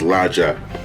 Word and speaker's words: Luocha: want to pronounce it I guess out of it is pronounced as lacha but my brain says the roaches so I might just